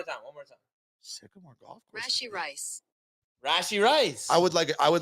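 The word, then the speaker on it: Rashee: hold up rashy rice it's rashy it's rashy rice rash rashy rice rash rashy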